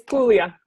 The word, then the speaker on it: Puglia: It's Puglia. Okay, now I Puglia. would have pronounced. Don't pronounce the G.